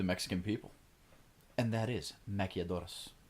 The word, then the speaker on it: maquiladoras: And that is maquiladoras. It's important to roll your R.